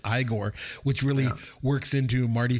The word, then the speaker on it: Igor: I also like the pronunciation then of Igor. It's not Igor. It's not Igor. It's Igor, which really works into Marty Feldman because he's got those crazy eyes, right?